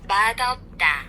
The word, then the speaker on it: 맛없다: the second part, so it's one of those special rules where it sounds a little bit different than what it looks like, you know? You know? So instead of the S sound at the end of this one, you would use the D sound instead.